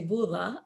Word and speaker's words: buza: Well, I think was it Buza? Yeah, the pronunciation depends on the region. So Yeah. in my region, we say bula, but in Syria, I'm assuming they say buza.